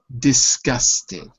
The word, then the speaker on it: disgusted: The asterisk, or that, sorry, the apostrophe is before the gus, which shows you that the stress is on the second syllable. Disgusted. So disgusted and interested end